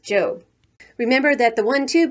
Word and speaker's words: Job: to her job which in the bible is pronounced job remember that the one two books sam is